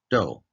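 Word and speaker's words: 道: Now, let's look at the last kanji part, which is do. In English, it sounds like do.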